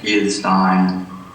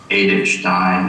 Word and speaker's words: Edith Stein: something about the name i'm going to use the english ether stein although edith stein is the precise german pronunciation but every time i